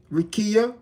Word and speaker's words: Rakia: Or Rakia, right? Rakia, that's how you pronounce it.